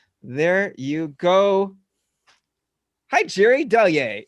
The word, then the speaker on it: Delyea: you go hi jerry deliay it is pronounced del yey david got it david got it finally ripa yes ripa now knows how to say i thought it was jerry uh delaia yeah i know jerry